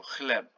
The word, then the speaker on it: chleb: The CH in Polish is not ch, it's h, the same as H. So chleb, bread.